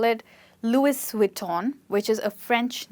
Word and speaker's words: Louis Vuitton: So Louis Vuitton. And please don't get this as T-O-N as ton, because it is tan. So I'll repeat it for you. Louis Vuitton. Louis Vuitton.